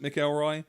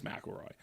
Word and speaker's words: McElroy: Is it McElroy or McElroy? It's McElroy. McElroy. Okay. When you read it, you might pronounce it McElroy. Got it. But the way they pronounce it is McElroy. And they're probably the experts on that.